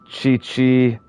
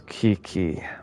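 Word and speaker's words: Qiqi: She's pronounced She's pronounced Chi-Chi, but it's Kiki.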